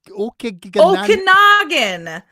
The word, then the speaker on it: Okanagan: Okanagan. Okanagan.